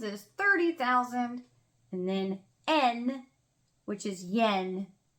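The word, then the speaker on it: 円: n which is Yen they don't call it yen in Japanese there's no y I don't know why we add a y in English there's no Y in Japanese it's n so Sun man and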